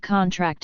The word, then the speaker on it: contract: by stress for instance the word contract is stressed on the first syllable when used as a noun but on the last syllable for most meanings when used as a verb here stress is connected